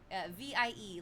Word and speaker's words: Vie: Vie, like the French word for life, V.